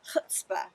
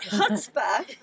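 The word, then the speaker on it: chutzpah: is a woman of hutzpah yeah we can say that Ronon was trying to teach us how to say it I can't get the guttural quite right but but husba is that determination its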